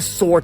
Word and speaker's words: soar: And by the way, that's S-O-A-R. The same pronunciation as S-O-R-E. My shoulder is sore today, right? But it's soar, soar. They both sound the same.